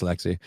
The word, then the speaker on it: Lexi: Yes, Lexi. Lexi rhymes with sexy.